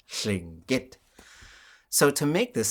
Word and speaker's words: Lingít: So Tlingit is not how we speak our language. We say Lingít, and there's a high tone at the end, Lingít.